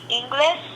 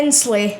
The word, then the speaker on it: Inslee: But I think the rulers of that debate were Jay Inglis. No, that's not how his name. How do you pronounce his name? Jay Inslee. Yeah.